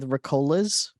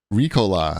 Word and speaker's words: Ricola: I went with Ricolas. Ricola, I think it's pronounced. Ricola. I remember from the song.